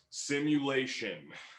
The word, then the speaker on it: SIMYOULATION: Simulation, and it is spelled SIMYOULATION.